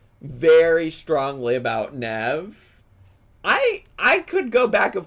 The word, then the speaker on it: Nev: Bestie, Nev is pronounced Neeve. Am I saying his name wrong? I'm so sorry. I haven't watched an episode of Catfish in a long time. Neeve, my apologies for pronouncing it incorrectly.